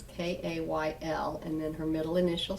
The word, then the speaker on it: Kayl: So that's Kayl, it's pronounced like the vegetable, but it is not a vegetable. It's Kayl, and then her middle initial C, and then Perks, and photography.